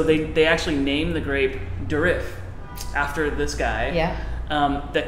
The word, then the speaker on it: Durif: So there was a guy in France, a Frenchman named Francois Durif. Ooh, listen to your French. Is that how you say it? I don't Probably. know. Probably. I'm assuming. But his name is Durif, D-U-R-I-F, Durif, Durif.